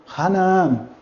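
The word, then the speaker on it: Χαναάν: Lembrando que na forma da pronúncia erasmiana seria Hanaã, que traduzido é Canaã.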